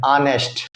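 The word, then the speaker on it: honest: अब जैसे देखो डैश ऑनेस्ट बॉय, अब ऑनेस्ट बॉय है एन ऑनेस्ट, ऑनेस्ट क्यों, क्योंकि हम इसका प्रोनाउंसिएशन क्या कर रहे हैं, ऑनेस्ट, आ वाला आ रहा है ना कि क ख वाला आ रहा है।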